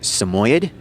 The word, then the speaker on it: Samoyed: And there are two ways in which the breed's name can be pronounced. I've always heard it pronounced Samoyed, but they can also be pronounced Samoyed, or Sammy for short.